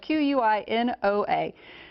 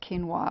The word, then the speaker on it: quinoa: No, it's quinoa, or quino, if you've seen the recent TV commercial. It's spelled Q-U-I-N-O-A, generally pronounced quinoa or quinoa.